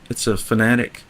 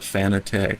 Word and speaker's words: Fanatec: Carson, it's a Fanatic. Some people call it Fanatec, but I think it's meant to be pronounced Fanatic. Fanatec, and it's the CSL,